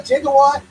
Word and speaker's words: gigawatt: So if he put a gigawatt or a gigawatt, actually, gigawatt is a mispronunciation that they did in Back to the Future.